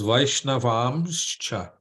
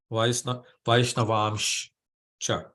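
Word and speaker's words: vaiṣṇavāṁś ca: So it's Vaishnavamscha. Vaishnavamscha. So they hear that S with the accent over it. It's a sh. Vaishnavamscha. Vaishnavamscha. Vaishnavamscha. It's a long A.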